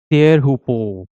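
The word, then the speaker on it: Teahupo'o: So so it is actually pronounced as Tearhupo.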